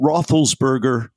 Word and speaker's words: Roethlisberger: wrote him page six that uh that Ben Roethlisberger is that pronunciation correct right yeah sure for Trump yeah